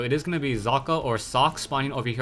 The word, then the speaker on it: Socke: side of the map I believe it's German so the people told me that or the my German friends told me that it's pronounced zaka meanwhile we haveu or